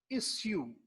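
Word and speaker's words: issue: अगर सुन रहे हो, sometimes it will be heard like इश्यू। वो लोग इसको इश्यू भी प्रोनाउंस करते हैं। बहरहाल इशू जो कि हमारे यहाँ कॉमन है, गलत ना समझें इसे कि इशू गलत है, इश्यू फिर ठीक हो जाएगा, ये दोनों ठीक है, लेकिन इशू जो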